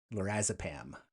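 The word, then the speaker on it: lorazepam: as far as I understand it the correct pronunciation is lorazapam also known as Adavan but BNC 210 potentially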